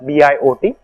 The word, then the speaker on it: Biot: e bo number it's written as VI ot it's spelled as bi ot called the Biot number so we could rewrite